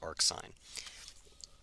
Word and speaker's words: arcsine: you do pronounce it even when it's written that way you do pronounce it as arc sine okay so what are